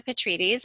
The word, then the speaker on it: Petrides: joined us and today we have on Petrides and I am for now in my pronouncing that correctly absolutely yes petrini I did